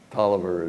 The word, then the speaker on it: Taliaferro: And those that don't know how people talk in Virginia, Tolliver is spelled Taliaferro, but her father, that's